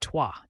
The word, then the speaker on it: trois: Number 3 is trois, pronounced toi. It rhymes with voilà, a word you might already know.